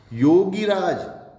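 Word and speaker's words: योगिराज: योगीराज, योगी, गी नहीं होगा, योगीराज, योगी, गी छोटी, योगीराज, यहां मात्रा छोटी है, योगीराज।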